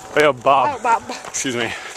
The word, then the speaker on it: baobab: And this is to the baobab tree. Baobab. Baobab.